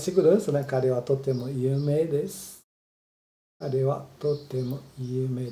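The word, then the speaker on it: 有名: Embora esteja escrito yumei, se lê só prolongando, você pronuncia só prolongando o E.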